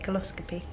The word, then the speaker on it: colposcopy: Yeah, that is how you say it, colposcopy.